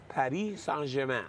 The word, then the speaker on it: Paris Saint-Germain: Paris Saint-Germain. Saint-Germain. Paris Saint-Germain. Paris Saint-Germain.